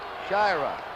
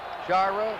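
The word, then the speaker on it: Sciarra: We've had some calls about the pronunciation of Shyra. We asked him yesterday and he said it's Shyra. Shyra.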